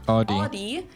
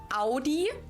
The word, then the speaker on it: Audi: Most Americans that I know pronounce it like I just said it. Audi. In German, we say Audi.